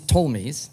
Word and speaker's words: Ptolemies: However, the story I want to tell you, fast forwards another till about 300 BCE, after Alexander the Great told me, the P is silent.